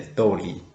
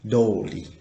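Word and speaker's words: とおり: So, what you should remember, that means if you put the no between the noun and the TOORI, you can pronunciation the sound TOORI like TOORI. But if you don't have the no, you should change the sound to be DORI.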